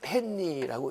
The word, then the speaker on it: 헨리: 그리고 인덕턴스는 약으로 L로 표시를 하고 단위는 H로 쓰고 헨리라고 읽습니다. 헨리.